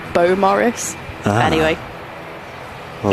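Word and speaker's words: Beaumaris: We always used to call it Bew Morris, and then somebody said it's actually called Bo Morris.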